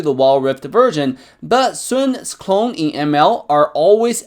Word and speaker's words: Sun: By the way, most players pronounce his name as Sun, but it's actually pronounced as Sun in Chinese.